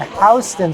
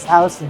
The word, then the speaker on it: Houston: in new york city on houston street not houston streets houston street this place what's up with that like a different pronunciation i don't know it's kind of like we say greenwich rhode island and they say greenwich england and greenwich connecticut it just kind of works out there anyway katz's